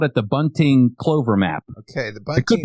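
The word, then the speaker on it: Bünting: theologian, so Heinrich Bunting, maybe we would use the more German pronunciation.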